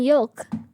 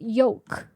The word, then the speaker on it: yolk: I'm pronouncing the L. Everyone always forgets about the L. Truthfully, you guys You guys always say yoke. Yoke. That's not how you say it. You guys are saying it wrong.